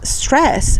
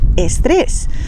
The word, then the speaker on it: estrés: D y G y la letra S al principio de palabra sin una vocal delante. Y eso explica la forma con la que pronunciamos estas palabras inglesas. Nosotros en español no decimos stress, decimos estrés.